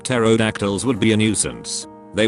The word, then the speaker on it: pterodactyls: existed i feel like pterodactyls would be a nuisance they would urinate all over us and we wouldn't even notice you would probably notice it just not hear it the p is silent just finished up collecting